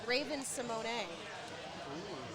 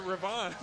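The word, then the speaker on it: Raven-Symoné: Uh, or actually the one that I heard recently, it's Raven Simone because we've been all saying it wrong for a thousand years. I've been saying it Ravon.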